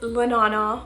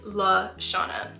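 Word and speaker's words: LaShauna: Most of you guys probably think that my name is Lanana or Lana or Shauna, but it actually is La Shauna.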